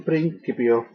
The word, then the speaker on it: principio: In principio, the C in Latin is pronounced always as a hard C, as in cat, never a soft, as in city. In principio, creavit, the V in classical pronunciation is always pronounced as a W.